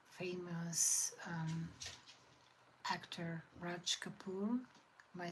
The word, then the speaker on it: Raj Kapoor: and singing, and is it like famous actor Raj Kapoor? Am I saying it right? I mean, I think I'm saying it right, Raj Kapoor.